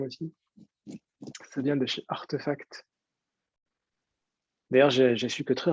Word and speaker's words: RTFKT: En fait, non, c'est Artefact. Ah, artefact, ok, il y a un petit jeu de mots. Oh, putain, c'est intelligent, hein. Ok. Pendant très longtemps, je lui disais ça, ben, RTFKT.